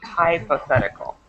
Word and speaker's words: hypothetical: you Med was hypothetical make sure to pronounce that H hypothetical hypothe hypothetical perfect okay